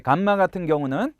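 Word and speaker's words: γάμμα: 그들 은 이중 'm' 을 매우 부드럽게 발음 하지만 , 우리 방식 대로 발음 하는 것 이 원문 에 더 가깝습니다 . 그게 더 정확 해 요 .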